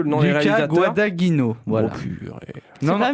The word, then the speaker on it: Guadagnino: Alors déjà, ça se prononce pas Guadagnino, là, je sais pas quoi.